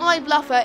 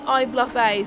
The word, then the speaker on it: iBluffA: So it's not iBluffer, it's iBluffA.